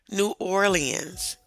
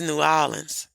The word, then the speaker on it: New Orleans: me he was from, I was taught in school to say New Orleans. He was like, "You saying it wrong." And I was like, "How am I supposed to say it?" He said, "It's New Orleans."